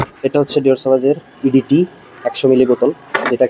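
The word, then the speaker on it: Dior Sauvage: ডিওর সওয়াজ, যেটাকে অনেকে ডিওর সুভাষ বা ডিআর স্যাভেজও বলে, উল্টাপাল্টা উচ্চারণ করে, যেটা 4,500 টাকা 5,000 টাকায় হয়তো আপনাকে ফুল বোতল সেল করতেছে।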